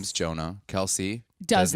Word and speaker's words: Jonah: sometimes they'll be like but my name is Jonah they go Jason I go that's not